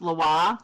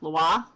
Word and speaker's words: Lwa: And it is pronounced Loa, Loa, Loa. Sometimes in Haiti, they really swallow that, like we kind of say Loa.